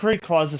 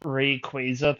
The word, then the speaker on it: Rayquaza: I think Rayquaza sounds better, but it is Rayquaza because it's based off of Quaazar.